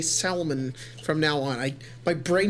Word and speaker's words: Salmon: It's pronounced salmon. It's salmon? Yes, that's why I said salmon.